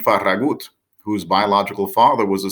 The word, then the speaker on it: Farragut: His name was David Farragut, or more accurately pronounced, David Farragut, whose biological father was a Spanish soldier who fought on behalf of the rebels in the Revolutionary War.